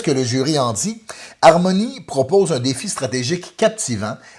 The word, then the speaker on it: Harmonies: Mais tu peux dire en beau français, hein, Harmonie, tu dis Harmonies, Ouais. mais on fait attention à la qualité du français. aujourd'hui. Harmonies Harmonie. en français. Oui, on prononce pas le S en français.